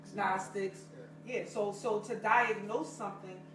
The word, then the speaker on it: Gnostics: Always put the G on there. You're not supposed to say it like that. Gnostics.